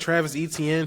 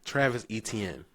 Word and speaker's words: Etienne: And I'm saying his name wrong. It's not Travis Etienne. It's Travis Etienne. He came out recently and said, that's how you properly pronounce his name. So let me get that right. It's not Travis Etienne. It's Travis Etienne. That's what it is.